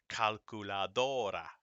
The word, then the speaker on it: calculadora: The stress of a word naturally falls on the next to last syllable. All right, so like this. Calculadora, perro, escuela.